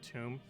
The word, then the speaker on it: tomb: Everyone keeps saying I say it like Tome instead of Tomb.